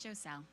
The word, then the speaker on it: Giselle: recommendation serenajoe sell or jostle please correct me your pronunciation every last name please Sarina Giselle okay thank you good